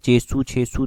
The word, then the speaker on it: छेसू: छेसू, तेसू, इस तरह से इसको प्रोनाउंस किया जाता है।